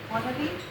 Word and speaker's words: honorary: Recently, the People's Republic of China awarded him the title of honorary Honorary. honorary Or H is silent.